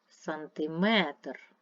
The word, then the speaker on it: сантиметр: це буде другий стовпчик сантиметр третій стовпчик так далі листопад рахуємо